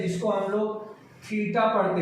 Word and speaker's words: थीटा: तो angle represent करने का एक सिंबल है जिसको हम लोग थीटा पढ़ते हैं।